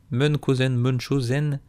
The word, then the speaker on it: Munchausen: Mais je crois que ça se prononce Munchausen.